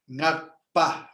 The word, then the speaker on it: Ngakpa: So that's why Ngakpa with a pa, like papa.